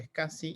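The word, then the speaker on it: SCSI: discos de los servidores que se pronuncia escassi y se escribe s s s y cuando yo veo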